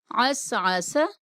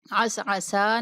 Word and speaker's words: عسعس: انقض، دمدم، ٹھیک ہے۔ عسعس، عسعسا نہیں کہیں گے، عسعس۔ اسی طریقے سے اعبدو،